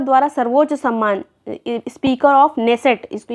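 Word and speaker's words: Knesset: next है अह Israel संसद द्वारा सर्वोच्च सम्मान स्पीकर ऑफ नेसेसट इसको ये स्पेलिंग ये है के एन E double S ई टी लेकिन नेसेसट इसको पढ़ा जाएगा ये मेडल किसको मिला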